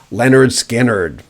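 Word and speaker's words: Lynyrd Skynyrd: debut album remember that simply titled pronounce leonard skinnard in 1977 yes scored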